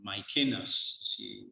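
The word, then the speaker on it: Maecenas: of none other than mycenas or mike see as his name is pronounced in latin so mycenas was augustus's it was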